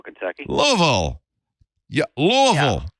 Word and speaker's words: Louisville: Yeah, this is from Louisville, Kentucky. Louisville. Yeah, Louisville, right? That's how you say it. Louisville. It should be Louisville because we're named after King Louis.